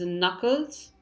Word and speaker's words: knuckles: gome next word is Knuckles so the K is silent we have a number